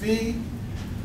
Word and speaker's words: phi: in some cases right some cases people pronounce it as five some people pronounce it as Phi um Plus B which